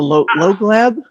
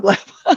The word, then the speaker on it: Lōglab: It's L-O-G. Oh, just like log. Because I thought it was Lōglab.